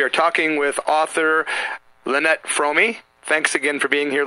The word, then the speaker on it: Fromme: You know, I never hear anybody say your name right, and it is Fromme, like foam with an R and me, right?